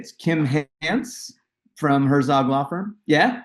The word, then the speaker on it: Hance: It's Kym Hance from Herzog Law Firm. Yeah, Yeah. I got it right. I always say it's like chance without the C on front. So Okay, it's just perfect. Hance.